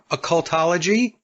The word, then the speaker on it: occultology: Now, one of the things I wanted to get into, Richard, is, let me make sure I got this pronounced correctly, occultology?